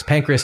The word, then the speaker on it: Pancras: First of all, the Brits annoyingly pronounce things the wrong way. There's no E in Pancras.